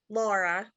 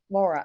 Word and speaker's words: Lara: and another place it's l-a-r-a how do you pronounce it laura laura okay i just just want to make sure